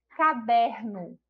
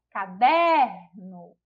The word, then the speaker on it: caderno: Caderno. Caderno. A gente já identifica aí que a sílaba tônica é a sílaba der, que também não é a última sílaba, então não é a palavra oxítona.